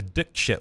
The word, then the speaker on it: Dikshit: so long yeah um the dick chip one Springs to mind and it's like from what I understand that was the way you pronounce it that was her name yeah you were told to pronounce it differently some absolute working for